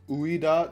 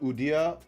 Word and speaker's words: Ueda: Man, it's Uida, not Udia.